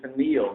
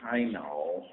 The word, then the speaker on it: pineal: That's pronounced, by the way, pineal, not pineal. Pineal, it's pineal gland, and medical jargon.